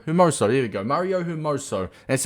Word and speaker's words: Hermoso: fernandez and mario marso there you go mario hermoso that's how you pronounce i was going to say you're miso but i'm like there's no e in it